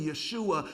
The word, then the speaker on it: Yeshua: Jesus, in fact, his name, Jesus or Yeshua, or what we, terminology today, we call him Joshua, but the Jewish pronunciation would be Yeshua.